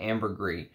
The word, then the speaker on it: ambergris: Great information on there, and it is, according to him, the people in the trade pronounce it ambergris, not ambergris. It is supposed to be with that S at the end, so it's ambergris.